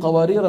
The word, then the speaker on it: قوارير: الاولى حتى نخرج مين قوارير الثانيه اللي هي قوارير من فضه هذه قوارير من فضه الفها ساقطه وسطا ووقفا لذلك فوقها شو في